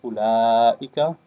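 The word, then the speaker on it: أولئك: And at the beginning here you have the word ulaika. This waw here is silent. Ha-ulai. This waw is silent. It's not pronounced.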